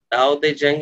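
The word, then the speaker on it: Tao Te Ching: उसका नाम है दाओ दे जंग, दाओ दे जंग इज a pronunciation of that book.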